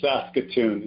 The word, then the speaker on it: Saskatoon: what how do you say that name its Saskatoon is how you say that that's khatoun that's